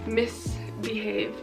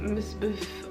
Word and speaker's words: MISBHV: Misbehave, not Misbehave, or whatever the fuck I said, but I have no excuses.